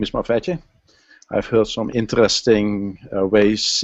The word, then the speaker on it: MavEtJu: I'm from, geocaching name is Mavetje.